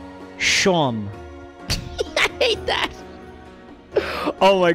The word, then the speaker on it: Seam: up his name is seam oh cause he's stitched together like he's all st he's like a stuffed animals stitches but it's pronounced like sean so it's shawn i hate that oh